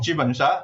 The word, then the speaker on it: jubensha: Okay, so first of all, I need to commend your pronunciation of JUBENSHA.